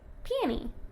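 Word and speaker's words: Peony: call her peon maybe is it peon or peie how how do you say piie piie just like that yeah piie piie okay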